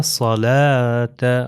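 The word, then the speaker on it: صلاة: तो स्वाद का तलफुज़ हमने क्या बताया था अपने पिछले लेवल वन के अंदर जो हमने बताया था कि वो पीछे से जबान जो है ऊपर चली जाती है। मोटा अदा होता है। अगर मैं सीन से कहूं सलाता तो ये गलत हो जाएगा।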